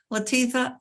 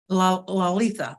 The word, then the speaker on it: Lolita: you so much and Latifah how do you say your name again Lolita okay oh I missed the L okay we'll get to